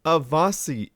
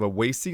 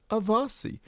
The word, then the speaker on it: Awasy: And I'm saying Avasi is his name instead of AI like I used to because I just learned from Titan RT that it's actually pronounced Avasi.